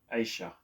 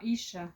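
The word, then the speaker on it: אשה: That's how you say it, Isha. Yeah. Not Aisha. No, Isha, because there's a dot underneath.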